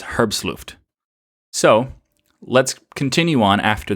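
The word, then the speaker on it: herbstluftwm: that's what it is the WM is vm because it's a German team and it's a German term and it's the pronunciation of the rest of it is herb's looped so let's continue on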